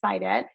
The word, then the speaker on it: Saidat: you yes um so my name is spelled like the word said and the word at together so said at but the pronunciation is cited um you can find